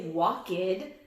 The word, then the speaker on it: walked: Another way that ed can sound is actually like a T. ED can make a T sound, like at the end of a word like we walked across the street. We don't say walked, we say walked, but it's not a T.